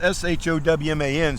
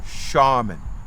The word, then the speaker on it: Showman: raleigh raleigh charmin now although it's s-h-o-w-m-a-n sounds like showman they actually pronounced it shaman shaman this chap is